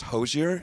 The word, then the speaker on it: Hozier: that it's still pronounced hozier yeah it's a nice hard R on that I mean a lot